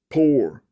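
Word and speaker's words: πῦρ: In the world, there must be tribulation, pressure, and heat, pyre, pour, P-Y-R. It's pronounced pour in the Koine Greek.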